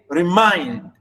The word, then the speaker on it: remind: really mind you understand we say remind stress on mind whereas is unstressed like